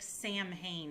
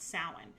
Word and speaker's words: Samhain: of cool now salon looks like sam hayne if you were to just read it but it's pronounced samhain and it is the